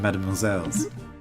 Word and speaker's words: mademoiselles: In French, you would pluralize it with a silent S, right? I'm pretty sure. I've never tried to pluralize that word, but yeah, I'm pretty sure pluralized it would just be mademoiselle.